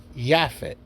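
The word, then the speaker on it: Japheth: their uh brother named jaffet a more pres pronounced Yafit due to the Y and the J J being the newest letter in exchange for for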